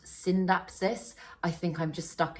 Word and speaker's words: Scindapsus: And I know I know Scindapsus is technically meant to be pronounced Syndapsis. I think I'm just stuck in old ways. I do still tend to say Scindapsus.